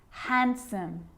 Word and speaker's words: handsome: d yep it can be silent too wednesday handsome sandwich so i'm not pronouncing the d in san sanjuich i'm just